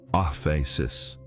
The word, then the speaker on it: aphesis: There is a Greek word for forgiveness found throughout the New Testament, aphesis, pronounced off a sis.